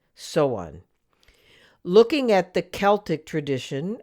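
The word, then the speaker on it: Samhain: in particular the gaelic festival of so on which is spelled s-a-m-h-a-i-n so on looking at the celtic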